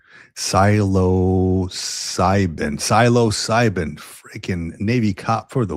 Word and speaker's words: Psilocybin: Siloscybin freaking Navy cop for the win, dude. Psilocybin. You can tell that I I say the word, but I don't read the word often. Psilocybin.